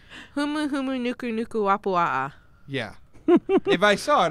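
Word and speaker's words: humuhumunukunukuāpuaʻa: I pronounced it, and I know it's like huma huma. You got the first letter right. Yeah, Humu humu nuku nuku wapua'a.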